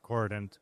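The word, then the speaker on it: k0rdent: Uh we we we pronounce it coordinant although it also has the zero.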